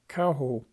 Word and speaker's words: Cahokia: who frequently use abbreviations thus casasia is called Kasi and Cahokia Kaho so if you ask